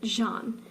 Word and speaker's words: Jean: That says Jean. Jean, apparently. That's how Are she... you serious? That's how she pronounces it, Jean. That's an asshole thing to do. That's not how you spell John.